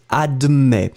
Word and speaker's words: admet: You pronounce the same, you don't put the final S.